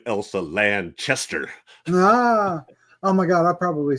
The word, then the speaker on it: Elsa Lanchester: She did make a comment too that said, apparently, if you pronounce her name wrong, she'd say, "It's Burt Lancaster. I'm Elsa Lanchester."